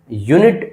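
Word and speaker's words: unit: यूनिट यू हमारा vowel है। लेकिन साउंड जो है वो कंसोनेंट की है इसलिए हमने यूज़ किया है ए।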